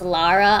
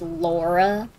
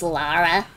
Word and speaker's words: Lara: her name is pronounced lara i know people will give a big stink about it if you pronounce it laura i mean fair her name isn't laura it's lara but um [ __